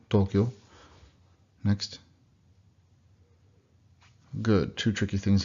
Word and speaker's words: Tokyo: Again, those are long O's, so it really could be marked like this. So it's Tokyo, Tokyo.